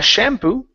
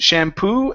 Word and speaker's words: shampoo: have the word shampoo the stress is at the end of the word instead of uh shampoo it's shampoo and we need a